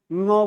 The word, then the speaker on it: ङ: तो इसका उच्चारण है क ख ग घ ङ। क्या है? क ख ग घ ङ, ङ बोलते हैं इसको।